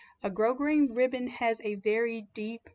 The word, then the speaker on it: grosgrain: They also have a ribbon called grosgrain, and it's spelled like gross grain, Gross grain. A grosgrain ribbon has a very